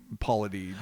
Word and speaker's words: Paulides: And those are the people that talk to like, Dave Paulides, or I never say his name right, Paulides.